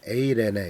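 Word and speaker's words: εἰρήνη: 우리가 잘 알다시피 샬롬이라는 그리스어로는 에이레네 이렇게 발음을 하는데이 평강은 단순히 갈등이 없는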